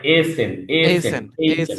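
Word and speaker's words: essen: এইসেন অর্থাৎ এইসেন না, ওটা হবে এসেন।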